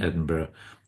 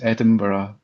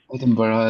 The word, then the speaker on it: Edinburgh: and you you pronounce Edinburgh very Well, that's that's I learned it. Yeah. Many many people struggle with Edinburg is is quite typical. That's wrong. Edinburgh is a very European focused uh city.